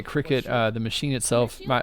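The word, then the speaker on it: Cricut: got one for christmas i think it's spelled like uh c-r-i-c-u-t so it's like a quick cut it just cuts out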